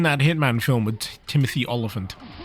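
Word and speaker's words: Olyphant: Hitman film with Timothy olant or as I sometimes mispronounce Timothy elephant his rendition of Agent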